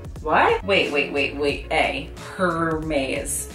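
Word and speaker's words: Hermès: Hermes. Hermes. Hermes. Her what? Wait, wait, wait, wait. A hermes. Like her mayonnaise. Like I'm confused. No, that's not it.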